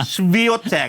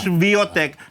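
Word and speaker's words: Świątek: Svotech o yun pala pronunciation. Viotech akala ko si hindi pala ganon gumagapang si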